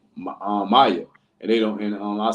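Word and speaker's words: Maia: Maya something like that m a i that's what that's what it's spelled like that but I think pronounced like may like Maya or something like that pronounce May yeah and what which which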